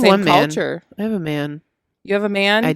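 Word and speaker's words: Maat: okay so i did ma the t is silent spelled m-a-a-t uh which refers to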